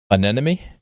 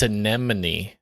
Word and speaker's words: anemone: Yeah, but that's not how it's said. Did you know that? It's an It's anemone. Anemone. You said see anemy. Yeah, but it's anemone, not anemone.